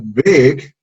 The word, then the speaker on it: big: Big, cuando decimos big, cuando pronunciamos la palabra big, este sonido que vemos aquí, que es la I, no lo pronunciamos como la I del español, sino un sonido que está entre la I y la E. O sea, este sonido de acá no es ni I, tampoco es E.